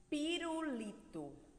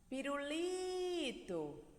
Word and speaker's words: pirulito: vamos ver alguns exemplos o pirulito pirulito pirulito como se o pirulito tivesse longe você tivesse aqui chamar ele pirulito perceberam que a gente parou no li pirulito então a sílaba mais forte da palavra Pirulito que a sílaba tônica é o Lee tá computador computador do